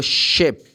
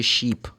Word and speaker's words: ship: Iceland it's Island and I need to take the ship people say sheep cuz if you say sheep is double e double e has the sound e so sheep is an animal it's pretty much the